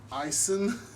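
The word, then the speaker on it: Aisin: do you pronounce that azin i call it icin icin that's how they say it in their videos you're watching ice and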